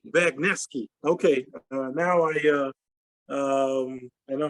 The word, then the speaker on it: Bagniewski: Bagniewski. Bagniewski. Okay. Now I know how to pronounce it correctly.